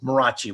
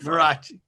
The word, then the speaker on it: Mariachi: Mariachi, you do that. Yes, there's more vowels in my name than I pronounce. I just make it simple for folks. It's Marachi will do it. Marachi.